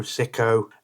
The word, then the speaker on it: Siko: Now, this is clearly a copy of a very well-known make, but this particular one is pronounced seco psycho siko s i ko.